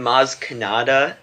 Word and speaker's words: Maz Kanata: thing love the comments I didn't we seem Maz Kanata kannada i said it right right yeah that's